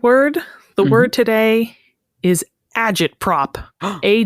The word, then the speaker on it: agitprop: eological scents oh God that's how it's pronounced you could also say agot prop just neither of those sound right agit prop can I ask for